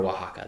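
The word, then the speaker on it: Oaxaca: I might have to go for Waka though. Wajaka. I don't know that one. Yeah. Nice. It's spelled like O A X O C.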